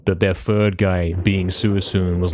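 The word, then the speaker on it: Suicune: It is pronounced Suisun, I'll have you know. It's pronounced, the trio is Raikou, Entei, and Suisun.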